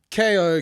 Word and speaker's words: Kayo: So Kayo, Kayo, as it's spelled, the word Kayo.